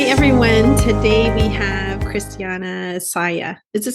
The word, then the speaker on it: Saia: Today we have Cristiana Saia. Is it Saia?